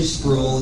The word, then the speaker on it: Spruill: It's actually Spruill. It's sort of like fool and drool and all that I